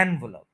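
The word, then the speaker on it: envelope: ज्यादा नहीं बोल रहा एनवलप थ्री सिलेबल्स है और फर्स्ट सिलेबल के ऊपर स्ट्रेस है ठीक है एनवलप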